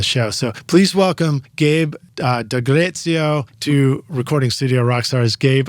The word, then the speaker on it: Dagrezio: Tell us, so I pronounced your name hopefully right, Dagrezio.